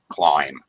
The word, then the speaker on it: climb: says trains cannot climb it's a long eye climb all right trains cannot